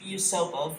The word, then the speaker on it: Yusupov: It's Yusupov, but... Vladimir Perishkovich, Grand Duke Pavlovich, Dr. Lazarevert, and Lieutenant Mikhailovich. The Google Translate pronounces it as Mikhailovich for some reason.